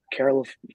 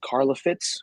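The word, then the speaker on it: Karlaftis: And what I've heard, it's either going to be Quay Walker from Georgia or George Karloff. I don't know how to say his last name. It's Karlafitz, the edge rusher from Purdue.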